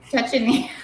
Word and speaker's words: Schwarzenegger: Schwarzenegger.